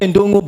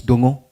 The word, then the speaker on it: ndongo: You see, our language Kikuyu, N is silent. So we write what we don't pronounce. Yeah. We write what we do not. We say ndongo, but there's no ndongo. It's dongo.